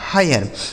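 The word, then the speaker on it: hire: ह आई का उच्चारण आय हो गया। आर ई से र यह लिखा गया आपका हायर।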